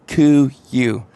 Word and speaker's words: KUIU: heard of that brand how you pronounce it it's C you and uh anyways Thomas